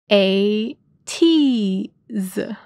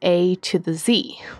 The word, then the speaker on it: ATEEZ: In the lyrics of Say My Name, they say that their name is A to the Z, which is quite fun